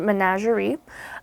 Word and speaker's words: menagerie: the French okay but we're going to pronounce it Menagerie because that's the English pronunciation of it and synonyms are agglomeration